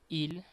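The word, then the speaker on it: ils: Same pronunciation with the singular one, but you just add S.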